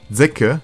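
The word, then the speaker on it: Sekke: charakter mit dem namen säcke ja so wird er wirklich ausgesprochen vor und die sein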